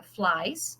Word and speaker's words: flies: Então, por exemplo, fly fica flies, mas veja que a pronúncia é só de S.